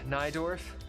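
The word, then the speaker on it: Najdorf: is it yeah yeah notes pronounced naidorf listen injad dorf I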